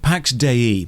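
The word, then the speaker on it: Pax Dei: properties and died only one year later 165 Pax de that's how it's pronounced the developers said so is a Sandbox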